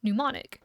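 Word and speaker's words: mnemonic: root as the word pneumonic the m is silent in her bag her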